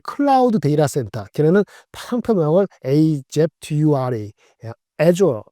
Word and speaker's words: Azure: 근데 클라우드 데이터 센터, 걔네는 상표명을 AZURE, Azure 발음하는데 Azure의 성장률이 무려 35%가 됐어요.